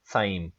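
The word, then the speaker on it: Sejm: answer हमारे पास है साइम इसके स्पेलिंग होते हैं एस ई जे एम लेकिन इसको साइम पढ़ा जाता है तो आपने याद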